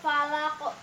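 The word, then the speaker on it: فلق: Nah, ini tuh qafnya itu diwakafkan jadi menjadi hukum tajwid qalqalah kubra. Jadi membacanya itu harus dipantulkan. Birabbil falaq kayak gitu ya. Sering kan ya di ibu guru ngaji juga sering dibilangin harus kalau ada qaf itu harus dipantulkan ya.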